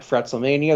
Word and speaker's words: FretzleMania: You can follow me on Twitter and Instagram at FretzleMania. That's FRETZLE Mania. My podcast... yeah, the proper pronunciation, by the way.